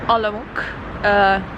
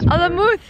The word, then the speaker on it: Olomouc: We could all be pronouncing this wrong. Olomouc. Olomouc. So this wonderful time, city, one more time. It's Olomouc, is actually pronounced Olomouc. So apparently it is called,